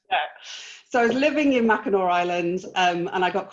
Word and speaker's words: Mackinac: what island is this it's called mackinaw island that you spell it mackinac um but it wow